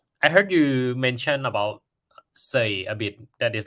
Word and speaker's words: Sei: say so it's pronounced say uh like you can think of the English word s-a-y like he is saying something um so you can